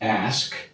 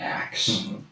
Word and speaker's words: ask: They were they were always honest uh about it's ask not axe it's jewelry not jewelry.